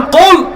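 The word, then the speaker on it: قُلْ: আল্লাহ তাআলা বলছেন কুল, হে নবী আপনি বলুন। এই কাফকে মোটা করে উচ্চারণ করতে হবে।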